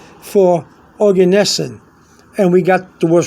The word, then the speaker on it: Oganesson: small G um is the chemical symbol for organes capital o g a n e s s o n okay now some people some people pronounce it organisin but organes and um and the chemical symbol for that